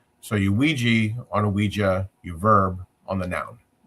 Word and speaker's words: Ouija: It's It's pronounced Ouija, right? It's Ouija, but Ouija, but when it came out, it had a patent which lasted for 16 years.